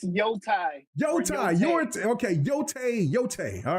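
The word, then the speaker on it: Yōtei: Now, Ghosts of Your Tie. Did I say it right, Viper? No, it's Yotai.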